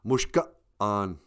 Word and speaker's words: mushka'an: Well, in our way, we use a little apostrophe like that. So it's mushka'an, mushka'an. Kind of like, uh-oh.